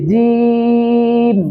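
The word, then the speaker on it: جيم: জিম জিহ্বার মধ্যখান থেকে জিহ্বার মধ্যখান তার বরাবর উপরে তশিটা লাগিয়ে জিম জি জি জিহ্বার মধ্য বরবর উপরে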